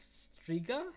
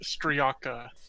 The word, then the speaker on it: Striaka: we do not take Striga? Is that how I pronounce its name? And he looks at you, Eristine. No, it is Striaka.